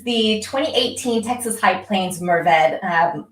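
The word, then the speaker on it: Mourvèdre: high plains merved um also often called mervedra especially at william chris vineyards but it is a french word so there's definitely a spectrum of how to say it um depending on how french you want to get with it um or how texan you want to get with it but i go with merved so i'm doing something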